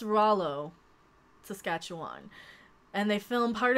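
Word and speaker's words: Rouleau: It's pronounced Rollo, Saskatchewan.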